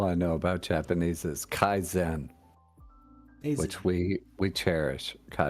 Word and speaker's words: Kaizen: pronouncing those words right no Kaizen is definitely pronounced correctly I didn't con Bon's